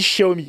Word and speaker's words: Xiaomi: On dit Xiaomi. Oui, on dit Xiaomi, effectivement, parce qu'ils prononcent le X comme ça.